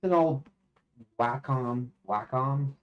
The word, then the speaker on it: Wacom: Wacom how they're pronounced they used to pronounce it wcom but wack guess the way that they all pronounce it actually I think it's the way the company at least the advertisements of the company did themselves Dusty see this is